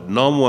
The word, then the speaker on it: Namo: it tells us that these various forms of the Buddha's name are all valid. Namo Amida Butsu, Namo Amida Butsu. That's just a different pronunciation of the same thing. Namu or Namo Amida Butsu means I